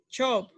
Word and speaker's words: chop: It's like you are smiling, like this, chop, chop, chop. You see? If you see shh, shh, you saying another word, okay? You're saying something else. So chop, like cheese, right?